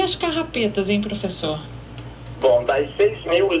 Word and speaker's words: carrapeta: Essa é uma carrapeta. E se sabe também que ela era pronunciada carapeta.